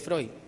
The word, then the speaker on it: Freud: Freud, perdón, no se dice Freud, es Freud.